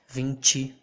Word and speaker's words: vinte: e that's it the the t will sound like the ch and change think about the way you pronounce change or change yeah that's the way the letter t will sound vinci vinci sachi and that's